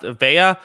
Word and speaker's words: Vea: Someone says it's pronounced Vea. I swear, no matter which way I pronounce it, the chat always tells me I'm pronouncing it wrong. No matter which way, so I give up. Yeah, Vea is fine.